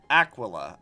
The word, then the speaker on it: Aquila: Aquila. I'm going to have to remember that's how it's pronounced, because I could not remember how that was pronounced.